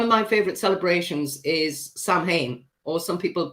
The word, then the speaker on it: Samhain: One of my favorite celebrations is Samhain, or some people pronounce it Samhain, but it's an ancient Celtic festival on the 31st of October.